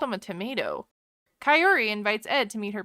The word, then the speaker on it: Kaory: It's Kaory. Will he ever say her name correctly? Kaory.